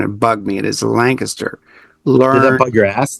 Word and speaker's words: Lancaster: And by the way, it is pronounced Lancaster, not Lancaster. I heard somebody calling it Lancaster, and it bugged me. It is Lancaster.